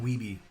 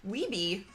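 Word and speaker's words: Wiebe: Is it Weeb or Webb? Weeby. Weeby? Yeah. Oh, Curtis J.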